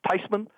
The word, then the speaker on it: Theismann: said granny look they're thinking about changing the pronunciation of our last name from thasan to thyman she said V Joy let me tell you this she said the correct pronunciation is tysman and it's closer to it so I'm okay